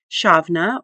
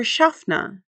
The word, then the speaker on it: shavna: The Nevnamonian verb shavna, meaning to look or gaze, is pronounced shavna or shafna.